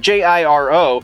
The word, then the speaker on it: Jiro: Because it's Asian, so it's not a soft J. Don't know exactly how the name is pronounced, but Jiro.